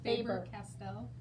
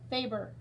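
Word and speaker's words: Faber-Castell: you say that fabric faber castell faber castell faber faber like a favor but a favor what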